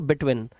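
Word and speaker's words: between: यहां पर विन में बड़ी की नहीं छोटी इ की कुछ ऐसा प्रोनाउंस करते हैं इसको बिटवीन। तो वहां पे ना व में बीन नहीं होता। यहां पे यहां पे तेज होता है विन बिटवीन।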